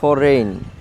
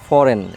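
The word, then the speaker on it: foreign: তারপর ফরেন, যেটা ফরেইন, আমরা বলি ফরেইন বা ফরেন এরকম বলি, বাট এটা সঠিক প্রনাউন্সিয়েশন হবে ফরেন, just ফরেন, just ফরেন হবে।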